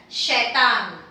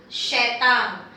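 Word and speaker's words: शैतान: So you pronounce it as shaitan, shaitan.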